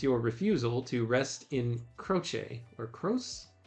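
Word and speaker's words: Croce: So in Italian, Benadetto croche is typically pronounced croche. The ch sound is soft like a ch in chocolate.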